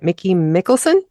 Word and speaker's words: Mickey Mickelson: And I have to tell you, your publicist, I hope I'm going to say his name right, Mickey Mickelson? That's correct. With Creative Edge Services.